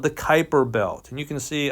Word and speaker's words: Kuiper: a region called the kuiper belt and you can see i don't know if you can see this it's spelled k-u-i-p-e-r it's pronounced kuiper and there are all